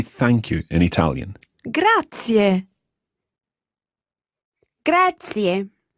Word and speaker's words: grazie: you an Italian gratia gratia and remember those three syllables there they're all run together quickly but there are three syllables gratia gratia gratia that